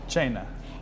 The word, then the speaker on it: Cena: we are at channel side in the restaurant china with michael buttikavali the chef let's spell it first it's spelled c c-e-n-a but pronounced china and i always said send them myself so